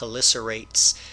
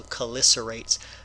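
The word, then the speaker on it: Chelicerates: up and as expected this is not a chch sound it's a k sound so this will be cerates so oftentimes the CH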